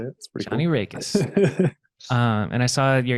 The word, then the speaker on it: Raekes: are actually knowing how to say it Johnny reikis um and I saw your email has John